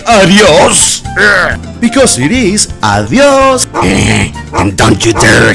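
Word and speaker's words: adiós: The correct pronunciation is adios. Adios. So make sure that you pronounce it as adios. Don't say adios! Because it is adios!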